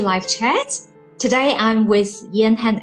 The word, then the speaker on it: Jan-Hein: As you mentioned, my name is Jan-Hein. Most foreign people think my name is Jan, but it's not. It's actually a double name. It's Jan-Hein.